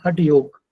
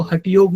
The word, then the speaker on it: हठ योग: जैसे हम बोलते हैं हठ योग, तो एक्चुअली वो हठ योग नहीं है, वो है हठ योग। ग पूरा है।